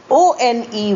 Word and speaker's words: won: Here is another set of homophones, pronounced as one, O-N-E and W-O-N, pronounced exactly alike as one. O-N-E, one, is a number, 1, 2, 3, 4 and so on.